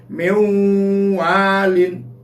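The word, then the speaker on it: مِنْ وَالٍ: Cara membacanya didengung, nunnya hilang, mewalin. Kan tulisannya min walin.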